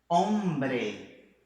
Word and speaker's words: hombre: Hombre.